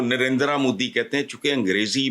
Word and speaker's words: नरेंद्र: लफ्ज जो है ना इसको प्रोनाउंस यह ना नरेंद्र है ना नरेंद्र है यह नरेंद्र हल्का सा बहाल दुनिया के अमीर